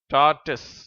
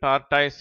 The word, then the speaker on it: tortoise: ஒன்று டார்ட்டஸ் டார்ட்டஸ் இதை இந்தியர்கள் டார்டாய்ஸ் என்றும் உச்சரிக்கிறார்கள் இது ஆமை அடுத்தது கிராக்கடைல் கிராக்கடைல்